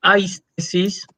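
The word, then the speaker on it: αἴσθησις: Vos tenés, por ejemplo, una palabra como aistesis, ¿sí? Ahí vos fíjate que tenés la sigma y la zeta, ¿sí? Están juntas, Sí, pero pertenece cada una a sílabas distintas. O sea, sigma pertenece a la primera sílaba, se junta con el diptongo ai, y la zeta pertenece a la segunda sílaba, se junta con la eta.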